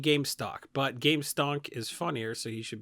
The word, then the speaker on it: Gamestonk: Wait, you keep saying Gamestock. I mean, look, I feel like I'm not crazy, right? He's saying Gamestock. Corbin is pronounced Gamestonk.